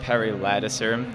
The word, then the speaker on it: Perry Ladouceur: State your name and spell it for me, please. Yeah, sure. It's Perry Ladouceur.